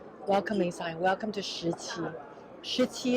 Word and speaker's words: Shiqi: Shiqi is the name of my hometown, how you say it in Mandarin. In Cantonese or Saki, in Zhongshan dialect is Saki.